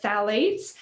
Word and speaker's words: phthalates: So there's the phthalates, which is spelled PHTH. So is how it starts, but phthalates.